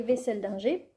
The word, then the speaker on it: Wesseldinger: Il s'agit de Gemaï, d'Audrey Wesseldinger, que moi j'ai tendance à vouloir prononcer autrement à l'allemande, mais non, ça se prononce bien comme ça, me l'a-t-elle dit, il y a de cela pas plus d'une semaine.